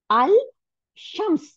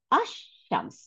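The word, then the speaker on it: الشمس: আশ শামস। তখন আর লামটা উচ্চারণ করবো না, কারণ লামটা তো মিলে গেছে সিনের সাথে, তখন এই আশ শামস উচ্চারণ করব।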